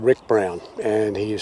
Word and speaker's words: Ryk Brown: saga it is written by an author called rick brown and he is spelt r-y-k-b-r-o-w-n um i have never heard of